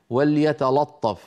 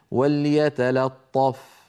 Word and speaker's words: وليتلطف: يكثر فيها الخطا لماذا لان اللام الثانيه مجاوره للطاء المفخمه وليتلطف يقولوا احدهم وليتلطف فهذا لا يصح بل عليه ان يقول وليتلا وليتلا بعد ان ينطق اللام مرققه ينتقل الى الطاء المفخمه فيقول وليتلطف ايضا المثال الثاني وعلى